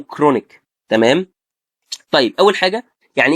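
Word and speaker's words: chronic: فانا مثلا لو عندي السي اتش بتتنطق ازاي؟ بتتنطق زي حرف الكي، فهقول كايم او كولي سيستكتومي او كرونيك.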